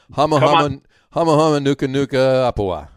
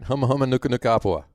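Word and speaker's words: humuhumunukunukuāpuaʻa: Matt also wants to say the nene isn't nearly as cool as the hama nuka nuka apua. Did I say it right? Huma huma nuka nuka apua.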